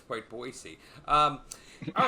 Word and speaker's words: Boise: Last night, Boisey Boy. Did I say it wrong? Boise. Boise. Boisey. Yeah. Boy. Yeah. Not Boise. Not a Z.